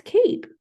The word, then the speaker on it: cape: right it's cape okay notice how I said ape right before the E it was cap and after they eat its Cape just like Pete fine